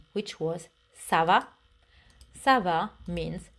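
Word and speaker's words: ça va: easy server it's fine the only difference is how you say it savable questions goes up the tone server you go up and the answer server goes down i'm fine server in a formal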